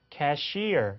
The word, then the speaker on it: cashier: 이렇게 해서 뭐 우리가 접수개원을 캐셔 이렇게 얘기하는데 실제 캐셔라는 단어의 발음은 cashier 이렇게 이음절에 강세가면서 완전히 두 단어가 꼭 합쳐진 것처럼 들리는 경우가 있어요.